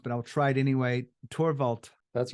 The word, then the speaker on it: Thorwald: And I know you go by TH, but your name is not the easiest pronounced, but I'll try it anyway. Thorwald. That's right, Thorwald.